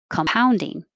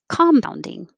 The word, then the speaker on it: compound: So if it's the verb, the stress is on how. And because we don't stress a COM, it just changes to K. Compounding. Or you'll hear people say compounding. Compounding. Wrong one. If it's the adjective, it'll be in the first syllable, compounding. 1, 2, 3, compounding.